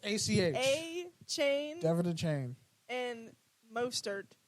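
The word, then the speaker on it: Achane: Archan? Bruh. A chain. A chain. A chain? I always think there's an R. I don't know why. There is no R. It's ACH. A chain Devin the Chain.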